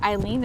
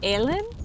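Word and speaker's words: Eilean: It's not Ellen or Eileen. It's like in the middle. It's like Alen.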